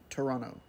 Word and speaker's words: Toronto: hello and welcome to Toronto or as the locals say Toronto this was my first time flying to the